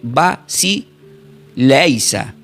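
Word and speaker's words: βασιλεία: Entonces, la palabra cuando dice reinos, que le mostró los reinos, es una palabra griega que se pronuncia como eh vas leisa.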